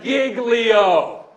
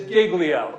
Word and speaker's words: Giglio: all of this is the pronunciation it is Giglio all right I have been a federal prosecutor I have been a local prosecutor I have been a criminal defense lawyer it is Giglio it is not jiggly